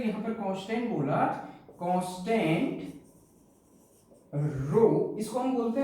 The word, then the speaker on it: rho: ये मैंने जो यहां पर कांस्टेंट बोला, कांस्टेंट रो, इसको हम बोलते हैं रो, ग्रीक लेटर है RHO, रहो नहीं कहीं होगा, रो हम जनरली बोलेंगे, रो प्रोनाउंसिएशन में रो होगा।